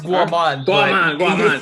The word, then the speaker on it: Guaman: host daughter sabri and our fourth contender gomen i pronounced it right correct it's guaman yeah yeah okay too many times i made